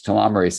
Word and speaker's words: telomerase: to optimize your telomerase the enzyme telomere Ace telomerase is how you say it the repairs and maintains